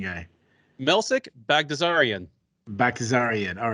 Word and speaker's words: Baghdasaryan: See, because you're the pronunciation guy. Melsik Baghdasaryan. Baghdasaryan.